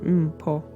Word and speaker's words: Mpho: So, my name is Mpho, which is pronounced Mpho.